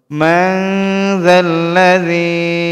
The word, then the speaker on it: من ذا الذي: من ذا الذي, এখানে মিম নুন জবর মান ছিল, কিন্তু এর বামে ইকফার হরফ আসার কারণে এটাকে অনিশ্চরের মতো, এই নুন সাকিনকে অনিশ্চরের মতো উচ্চারণ করতে হবে। মান যাল্লাযী ইয়াশফাউ ইনদাহু ইল্লা বিইযনিহি।